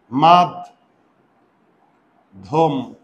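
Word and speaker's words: মধ্যম: দ আর ডি এইচ মানে ধ তাহলে এটার উচ্চারণ কি হবে দেখো মাদ ধম এই যে দেখো ধ মহাপ্রাণ ডি এইচ এ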